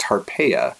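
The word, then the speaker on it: Tarpeia: story today as well her name is pronounced arpaia and that's how you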